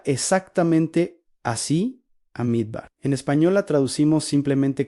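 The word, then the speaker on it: מדבר: Se pronuncia exactamente así a Midbar.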